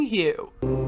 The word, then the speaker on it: HU: relax then begin to sing you pronounce like the word Hue in a long drawn out sound take another breath and